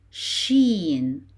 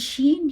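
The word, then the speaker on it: ش: Sheen. Sheen. We pronounce sheen as SH in English. SH as in shoes.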